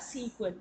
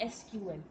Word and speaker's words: SQL: मेरे को पता है दैट सीक्वल जब एम आई प्रोनाउंस जम सीक्वल that E stands for English sir कि जो इंग्लिश लोगों ने इनको बनाया था दे वर pronounce it एस सीक्वल नॉट एस क्यूएल ठीक है जी अब